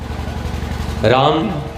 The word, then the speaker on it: राम: राम जो शब्द है वो कितने अक्षरों से बना है? कितने अक्षर हैं राम में? कितने अक्षर हैं? दो हैं। र आ म। रम थोड़ी बोलते हैं, रम तो कुछ और हो